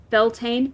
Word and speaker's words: Beltane: so Yi in bulk Beltane okay I was right about Beltane at the very least and lunasa